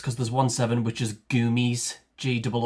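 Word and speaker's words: gomesi: The other one is gumi, I think it is. Let's have a quick look. G O M E S I. Um yeah, gumi.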